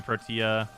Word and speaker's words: Protea: literally only learned recently it's supposed to be protea pronouncing it like professional tea oh protein that's fair